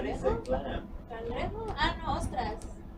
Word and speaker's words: ostras: Ah, no, ostras. Ostras? What about, we should name it Muscle Ridge. Just because there aren't any. But clam, or clam, ostras? Ostras. O-S-T-R, O-S-T-R-A-S, ostras, ostras ridge.